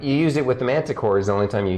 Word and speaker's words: manticore: and then core is it manta core or manticore i pronounce it manticore that's manticore not manticore yes